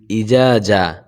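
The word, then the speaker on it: إذا: মানুষ আমরা বলি ইজাজা এখানে দুইটাকে আমরা জিম বলে ফেলি বা দুইটাকে জাল বলে ফেলি এখানে দুইটা দুই হরফ প্রথমটা হলো ইজা তারপরে হলো যা হ্যাঁ প্রথমটা হলো নরম তারপরেরটা শক্ত প্রথম জাল উচ্চারণ করতে হলে জিহ্বাটা একটু সামনের দিকে আনতে হবে দুইটা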